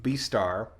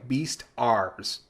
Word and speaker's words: Beastars: But I watched all of Beastar. Beastar? Every time I look it up, and it's not Beast and Star. It's Beastars, the way it's spelled.